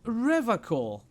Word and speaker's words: Revachol: He pronounces Revachol with a hard K, unlike other people. Yeah, you said Revachol.